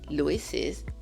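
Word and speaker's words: Louis's: Donc pour dire la tension de Louis, on fait notre inversion et ça va se prononcer Lises attention. Loises attention.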